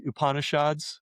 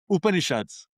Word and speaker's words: Upanishads: The upupananishads, the famous Indian literature. What do you call theads? Upanishads.